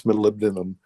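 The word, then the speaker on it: molybdenum: I can't pronounce that. It's malibd. It's malibdinum.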